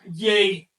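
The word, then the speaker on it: yei: 3 puntos, por supuesto, valen 3 y se pronuncia yay. Yay. Quiero decirles que la raíz de este número es la E. La Y que ven delante y la I latina que ven después son sonidos demarcativos.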